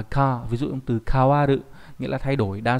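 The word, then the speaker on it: 変わる: Âm khương đọc là ka, ví dụ âm từ kawaru nghĩa là thay đổi, đa số là dùng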